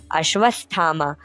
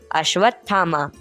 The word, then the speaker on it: अश्वत्थामा: अभी तक याद है मैं उच्चारण करता अश्वथामा और वह प्रेम मिश्रित स्वर में सुधार कर कहते छोरा नहीं उच्चारण करो अश्वत्थामा पाठकों को यह सुनकर